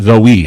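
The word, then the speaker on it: Zoë: Zoe or is it pronounced Zoe? It's Zoe. That's why the umlauts are there. They give it the correction of the E.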